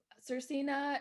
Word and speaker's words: Svrcina: sense yes totally well yes love a good pronunciation and so sercina is my last name and it is like